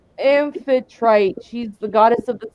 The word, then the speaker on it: Amphitrite: I have a good idea which god you were using, but I can't pronounce her name. Hold on, I wrote it down. I'm sorry, goddess. It's Amphitrite.